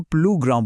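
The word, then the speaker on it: plus grand: नियम यह है कि किसी व्यंजन यानी कॉन्सोनेंट से पहले प्लस का एस आमतौर पर खामोश रहता है। जैसे प्लस ग्रैंड को हम प्लूग्राउंड बोलते हैं।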